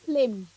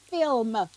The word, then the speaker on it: film: say again you said you said flynn it's film yeah no flip f-i-l-m say it properly flims